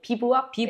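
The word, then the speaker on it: bivouac: 제일 반가웠던 사진이 사실 비박 아 맞아요 저희가 일본에서 비박이 뭔지 좀 설명해 주시면네 비박은 사실은 뭐 제대로 발음하면 비와네 비박 비부 비부악 저희가 불어를 못하는 관계로로 비브 악 이렇게 세 글자로 발음 하시더라고요 보통 그렇게 얘기하는 비약이라고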